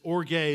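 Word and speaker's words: ὀργή: then there's this second type of anger this orgay is is how it's pronounced it's this vengeful seething resentment held over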